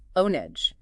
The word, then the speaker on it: ONG: But if it's not easily pronounceable, like ONG for Organization No Governmental and NGO. Right, ONG. You pronounce each letter individually. ONEG. Sometimes you might even see it written as onege to reflect that spoken form.